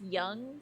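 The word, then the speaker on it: Yonge: so good oh really is it pronounced Young Street it's pronounced like young okay I don't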